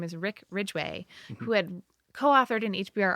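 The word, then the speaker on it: Rick Ridgeway: Every time I practiced it, instead of Rick Ridgway, I said Wick Widgway.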